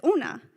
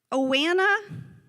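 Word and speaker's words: Oana: that name o-a-n-a and it didn't quite fit with Ms business brain to pronounce that name as una so Ms Biz would get to that point on the attendance list and go Awana and every day Ona would just correct Ms Biz and say Ona to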